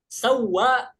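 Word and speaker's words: سواق: Sawa itu artinya sopir. Ya. Sawaq. Sawaq tapi dibacanya sawa.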